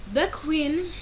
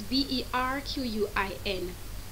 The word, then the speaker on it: Berquin: Bequin was three times imprisoned by the papist authorities. Let me spell it for you. It's Berquin. That's the French word.